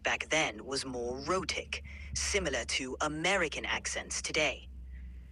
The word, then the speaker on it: rhotic: No, not neurotic. I said rhotic, which means pronouncing the R sounds in words.